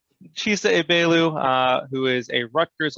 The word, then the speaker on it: Egbelu: i appreciate you for that last name is pronounced a bailu chisa ebelu uh who is a rutgers alumnus uh class of 2015 right oh no 2016.